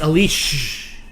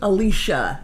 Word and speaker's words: Alicia: we have a name it's a leash that's how you that's how you pronounce it alicia the uh uh that